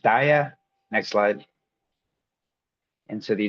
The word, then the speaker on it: DAIAA: It's pronounced dia.